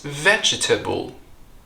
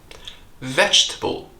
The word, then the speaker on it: vegetable: word is very similar you think it's vegetable only it's not vegetable vegetable you see the second e here is the silent letter so we drop that syllable and the first syllable very ends with a CH there's no vow there it's not J or G but V vegetable vegetable eating vegetables makes me